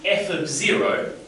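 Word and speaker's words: f(0): value in so this we would pronounce f of0 and here F of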